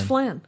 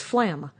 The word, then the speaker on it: Flam: And always Thought it was Flan. Yeah. I always thought it was Flan. And then I thought, is it pronounced Flan? But it isn't, because it's Flam. It's Flam. With an M.